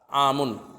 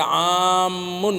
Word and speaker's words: عام: عام جو ہے دو طریقے سے اس کا تلفظ ہوتا ہے. عام میم جو ہے یہ مخفف، عامن، یہ فعلن کے وزن پر ہے، اور ایک ہے عامن میم مشدد، جیسے ضالن.